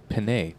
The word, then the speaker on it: Panait: Panait? Do you know how to pronounce his name? And Brian Moffat. Brian for the break. It's Liviu Panait Liviu Panait.